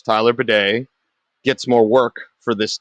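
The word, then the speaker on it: Badie: bedet and that's the way he wants it Pronounce Tyler Beday gets more work for this team we'll see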